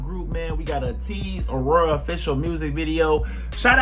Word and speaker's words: ATEEZ: Keep spamming Lays Gang in the comment section and keep correcting me, because I just realized I'm saying their name wrong again. ATEEZ.